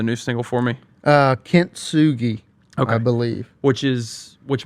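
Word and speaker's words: Kintsugi: yeah injected into my veins yeah so um pronounce the name of the new single for me uh Kint Sugi I believe which is which means what it's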